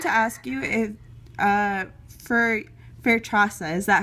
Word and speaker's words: Fairtrasa: So I wanted to ask you if, for Fairtrasa, is that how you pronounce it? Exactly, Fairtrasa.